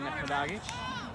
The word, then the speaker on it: Neferdagic: The AR sends him back to lovely Dominic Neferdagic. That is how her name is pronounced.